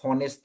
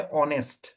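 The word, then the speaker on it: honest: ओ ओ वाला साउंड जो इधर नहीं आ रहा है अगर आप होनेस्ट बोलेगा ना। लेकिन इसका असली प्रोनाउंसिएशन जो क्या है? ऑनेस्ट ना एच इज़ साइलेंट।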